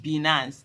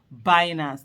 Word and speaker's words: Binance: detention by the way I used to call it bance I had to literally go and check the pronunciation I found out it's binance the way like you have uh Finance so it's binance so that's something have